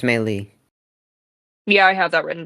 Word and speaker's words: melee: because it's melee.